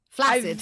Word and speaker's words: flaccid: it pronounced flaccid or is it pronounced flaid flaccid flaccid 100% of the time yes I don't know